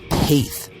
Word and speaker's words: Paeth: It features an interview with Scott Paeth, which rhymes with faith, author of the Niebuhr Brothers, the Armchair Theologians Guide to the Niebuhr Brothers, that is.